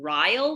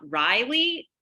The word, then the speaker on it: Ryle: have been calling him Ryle the whole time not Riley I don't know how to say it oh how to pronounce it because I just assumed that it was like Kyle with an R I was calling him